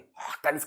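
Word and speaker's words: Huygens: ठीक है, एक डच साइंटिस्ट थे हाइगन्स, नहीं हॉकन्स करके इनका नाम होता है यार, इसको हॉकन करके बोलते हैं। इसको तुम इंटरनेट पे सर्च करोगे, इसका प्रोनाउंसिएशन बड़ा अलग है ना, डच प्रोनाउंसिएशन है, हॉकन करके इसको बोला जाता है, तो हम तो हाइगन्स ही बोलेंगे।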